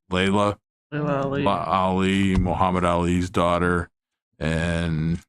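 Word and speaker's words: Laila: And one of them was, I think it's pronounced Layla.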